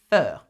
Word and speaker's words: fer: know this by heart for fair it is fur f e r okay so how do you